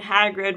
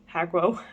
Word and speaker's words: Hagrid: Hagro? I read it as Hagro instead of Hagrid.